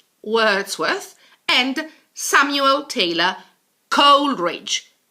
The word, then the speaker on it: Wordsworth: most famous poets Avatar William Wordsworth Wordsworth not warts worst Wordsworth and Samuel Taylor Coleridge